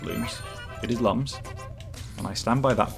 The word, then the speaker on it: Lums: Apparently, it's pronounced looms even though car. Yeah, in the manual it says looms, but it is lums.